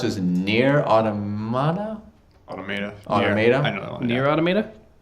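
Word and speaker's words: Nier: Automata: The game I couldn't pronounce was Nier Automata? Automata. Automata? I know that one. Nier Automata? This guy's got it. N-I-E-R and it's Automata, yeah.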